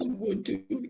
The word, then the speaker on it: Ubuntu: Ubuntu.